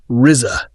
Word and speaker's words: RZA: The Man with the Iron Fists is the passion project of RZA, pronounced Rizza, who has always been very open about his love of the martial arts movie genre.